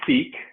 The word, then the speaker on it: Ceek: So my company is Seek, and that's spelled C as in cat, CEEK.